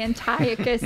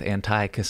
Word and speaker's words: Antiochus: me, frankly, when you called, you have to pronounce his name for me, the Greek guy, Antiochus. Oh, there are, there are like two different pronunciations for both of his names, but I stuck with Antiochus Epiphanes.